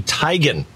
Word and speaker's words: Teigen: you think this is isn't it chrissy teigen no it isn't what what is it it isn't christie it's christy tygan no i know isn't